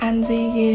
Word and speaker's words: An Di: I have two names One of them is my birth name My name is And the other name, An Di (pronounced An Zee) is the preferred name